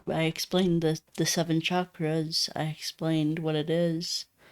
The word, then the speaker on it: chakras: There's a difference between chakras and chakras. Everybody loves to pronounce it as an S. chakras, but it's actually a ch, which is chakras.